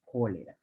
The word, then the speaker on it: cholerae: Pero se pronunciaría como cólera.